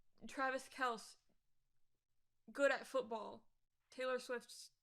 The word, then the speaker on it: Kelce: It could be spelled with a Y, and I would still probably have said Kels, because I don't pay attention.